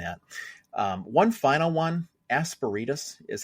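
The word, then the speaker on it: Asperitas: Aspiritus is how I pronounce it. All right. And put quick pause. I say aspiritus. Aspiritas. Asparitus. Makes me think of asparagus.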